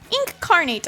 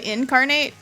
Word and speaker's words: Inkarnate: use it very well inkarnate I think is how you say it properly I always say incarnate but it's like spelled like ink carnate stamp on stamp dialysis